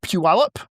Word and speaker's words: Puyallup: Key language Um Senator Chris Gildon, a Republican from Puyallup You have never said this word. Try and pronounce this word without me saying it.